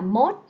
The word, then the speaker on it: most: most most rất nhiều Bạn đọc từ này là most đúng không rất nhiều bạn nhỏ giờ đọc từ này là mod ai đã từng đọc